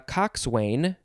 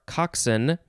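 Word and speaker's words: coxswain: wayne and is that you can say cox wayne or coxson uh because i know that because that's in tomorrow's episode and i can look at the pronunciation it is spelled c o x s w a i n cox wayne we don't know what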